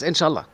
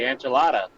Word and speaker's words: inshallah: Yes, inshallah. Do you say that all the time? Yeah. So you say enchilada. No, inshallah. Inshallah. It's, like God willing.